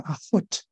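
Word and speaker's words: אחות: 就是阿霍德，这个就是结尾这个音要清楚啊，就不能读成阿霍德啊。这个要读成 a hot 啊，这是一个小问题哈。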